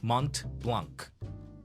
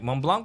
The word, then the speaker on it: Mont Blanc: do that and then once you get educated about the French pronunciation you will omit the T and the C so it's mon Blanc okay for okay I